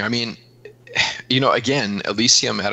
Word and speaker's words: Elysium: I can never pronounce it a lot. Elysium.